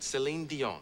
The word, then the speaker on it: Celine Dion: want to make sure I'm saying it right Celine Dion right it's perfect okay now do people mess